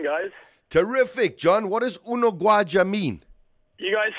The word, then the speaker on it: Unogwaja: Unogwaja.